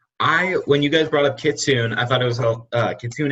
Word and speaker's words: Kitsune: I On the believe wiki- it's pronounced Kitsune. Kitsune.